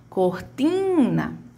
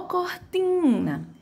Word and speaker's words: cortina: Quem vai ter a minha maior tonicidade aqui é o meu ti, né? Chama tim porque tá junto do N.